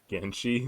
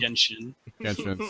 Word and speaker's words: Genshin: We have Apex Legends, COD Warzone, Final Fantasy 14 Online, Genshin Impact, and Fortnite. Genshi, is that how you said it? Genshin? Genshin. Sorry, bro.